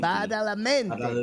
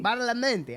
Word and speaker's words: Badalamenti: Angelo, how do I pronounce his name? Badalamenti. Badalamenti.